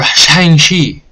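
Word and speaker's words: Shang-Chi: massive uh weekend for shangshi that's how you say it in the ad so that's how i'm going to say it as a cultural appropriation i apologize if it is please don't get me banned that's how they say in the ad i'm just trying to say it properly okay this is one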